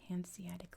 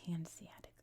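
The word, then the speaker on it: Hanseatic: So much so that in 1358 it joined the Haniatic League, which is how we pronounce it here in America. Now, what was the Hansiatic League? I guess you'd say Hansiatic League in Europe.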